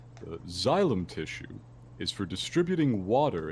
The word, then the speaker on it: xylem: xylem tissue is for distributing water and dissolved minerals